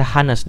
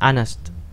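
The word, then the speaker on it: honest: aneh ini kata sifat Hai ini enggak pernah dibaca hanes dibacanya Anas ya berarti di sini kan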